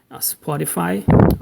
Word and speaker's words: Spotify: Spotify, it begins, in English, many words just begin with, right away with the S, and there's no E, no E, I mean, no E. sound at the beginning.